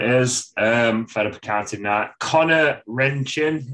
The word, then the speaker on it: Rendchen: Connor Rendchen, is that how I've said it right, Anta? Mate, you've nailed it. Rendchen, Yeah.